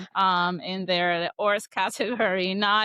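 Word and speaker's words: hors catégorie: Did you just call it a haute couture Yeah, tell me that I I haute couture, how do you say it? Ors category. Ors Ors category.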